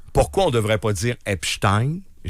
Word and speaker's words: Epstein: Epstein. Mais mais on dit Einstein. Pourquoi on devrait pas dire Epstein ?